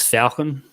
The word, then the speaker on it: Falcon: My favourite one was Falcon, rhymes with Malcolm.